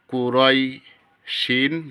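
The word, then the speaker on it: قريش: র ইয়া জবর রই কুরাই শিন দুই জের শিন কুরাইশ এখানে থামলে শিন দুই জের শিন উচ্চারণ হবে না শুধু শিন হরফের উচ্চারণ হবে লিলাফি কুরাইশ হামজা খারা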